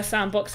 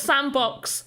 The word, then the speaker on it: Sandbox: it wrong before uh it's not the same box game just sandbox sandbox dot game go